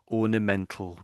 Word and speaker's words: ornamental: So so we would say we normally just say ornamental garden plant. So you sort you sort of have to say the all bit there.